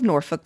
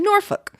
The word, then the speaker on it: Norfolk: it was transmuted to Norfolk. If you run across someone who pronounces Norfolk as Norfolk, it's very likely you're talking to a born and bred Cornhusker."